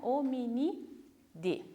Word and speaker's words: Hominidae: Está escrito dae, mas se pronuncia Hominidae.